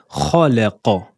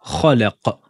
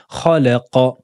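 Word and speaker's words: خلق: Là, dans le verset numéro 2, nous allons bien prononcer la fatha. Donc, khalaqa. Khalaqa. On va pas dire khalaqa, comme dans le premier verset où on avait fait la qalqala. Là, on prononce bien avec la fatha.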